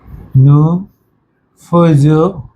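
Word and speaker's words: nous faisons: হয় না আমি কিন্তু উচ্চারণের ক্লাসে বলছি তাহলে উচ্চারণ যদি না হয় তাহলে কি হয় ফে একার ফে যেমন ফে ইল এল ফে নু ফেজ এটা কিন্তু তাহলে তাহলে দেখেন এবার এস আছে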